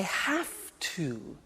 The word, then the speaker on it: have: I have to. Notice I don't say V, I say F.